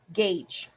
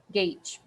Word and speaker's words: gauge: we pronounce it as Gage you see Gage we don't pronounce it as it looks but we say gauge okay so the meaning